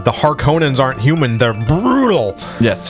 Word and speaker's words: Harkonnen: What do you know about the Harkonnens? Well, first of all, it's pronounced Harkonnen, and yeah, just punch him in the face.